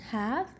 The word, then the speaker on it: half: is halves i say one half the l is silent one half two halves